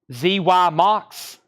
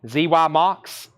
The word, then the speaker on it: Xymox: said 95 on XY Jeff was second it's pronounced z-y Mox maybe zy MOX zy MOX and okay 14.99 the Eurythmics Revenge